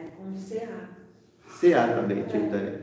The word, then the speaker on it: Chaitanya: Então não é Caetânia, né? Nem é Kainan.